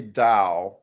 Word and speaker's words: Tao: Some say to and some say dao.